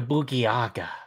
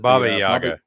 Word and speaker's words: Baba Yaga: Bruce Lee or the Boogieaga?